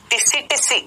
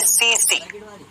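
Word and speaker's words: tsetse: टिसी टिसी नहीं, इसको हम बोलते हैं सी सी सी सी मक्खी। आप बोलेंगे सर यहाँ तो टीएससी लिखा हुआ है। बेटा टी साइलेंट है, टी साइलेंट है, अंग्रेजी में कुछ शब्द साइलेंट होते हैं।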